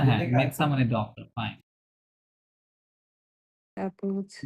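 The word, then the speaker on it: médecin: ডির পরে যে মেডসান ওটা আছে ওটা উচ্চারণ আসে না, মেটসা, স্ট্রেট করে বলেন মেটসা, মেপসা মেটসা।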